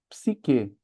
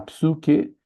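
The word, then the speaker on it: ψυχή: Então a gente fala psique, mas ela seria algo como ps ps nós não temos esse esses sons. A gente aceita como psique. É o jeito que nós brasileiros falamos psique. OK. Se alguém falar psuke vai ser aceito, mas é estranho. A gente acabou, a gente acaba indo mais para pro i, tá bom? O som do i.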